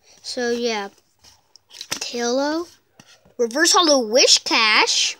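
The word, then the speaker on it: Whiscash: Reverse Holo Wishcash. Wizcash, that's how you actually pronounce it.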